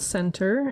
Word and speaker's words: Sentur: The app is called Center. It's spelled Sentur.